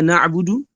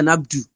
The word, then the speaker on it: na'budu: And whenever he recites Surah Al-Fatiha, he recites Iyaka Na'budu as Iyaka Nabdu, like without pronouncing the Dhamma on the Ba.